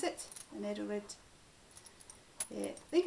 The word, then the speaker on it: Edelrid: i've got a hold of one of these idle red that's how you pronounce it an edelrid yeah i think it's from there it's the